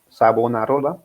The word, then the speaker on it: Savonarola: pastor, como Pedro Baldo, John Wycliffe, John Hus, Savonarola, creo que se pronuncia, Sí. Savonarola, y muchos de ellos, pero especialmente el ícono, o como alguien lo llamó, el Hércules alemán, fue Lutero, ¿no?